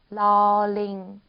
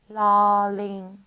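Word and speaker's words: ล ลิง: L 발음이라고 생각하시면 됩니다. 러링, 러링. 37번.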